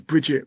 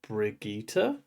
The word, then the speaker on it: Birgitte: I keep reading it as Bridget when I when I get to it and I know it's wrong because it's not spelled like that but I think that Michael Kramer says Brigitta. Brigitta, okay. I think it's Brigitta, yeah.